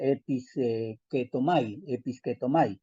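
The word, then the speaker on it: ἐπισκέπτομαι: Es una palabra que en realidad se pronuncia episketomai.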